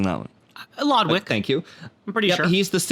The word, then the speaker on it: Lodwick: We did get Daryl Lodwich? I'm having a hard time pronouncing that one. Lodwick.